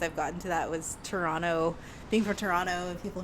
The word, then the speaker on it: Toronto: I'm from Toronto because I say Toronto and not Toronto but because like people who aren't from Toronto say the whole like enunciate every single syllable but um people would